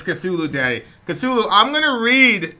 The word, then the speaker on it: Cthulhu: call let me in by the way is pronounced Cthulhu I'm just gonna write line arts guy nard